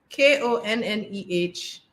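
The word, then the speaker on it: Konneh: The noun is Kone, K-O-N-N-E-H. To pronounce it, K-O-N, con, hyphen, N-E-H, ne, Konne.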